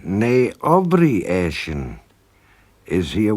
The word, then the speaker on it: ne: replace she with n although it looks like NE when it's spelled nou e it's actually nay and we say nay Au asan is he